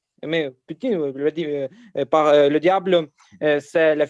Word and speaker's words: Poutine: Ouais, je voudrais seulement prononcer avec le nasal, avec ouais. avec le son nasal. Mais Poutine, par le diable, c'est